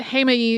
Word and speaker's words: Heimaey: Jaime or hey my or hey me but Jaime is closest to how I've heard people actually pronouncing it while I was in Iceland Jaime is a small island off of Iceland's southern